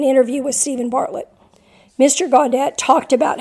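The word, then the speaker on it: Gawdat: eliminated Mo Godot I'm not probably not godat Mo godat I think is how you say his name author of a book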